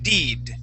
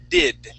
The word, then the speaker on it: did: whenever um uh you you were reading the word did okay you were saying deed using the Italian I that e sound okay but you want to say I the short I did did and this so we